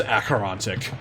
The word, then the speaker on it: Acherontic: What is the pronunciation of this? Acherontic. It is Acherontic.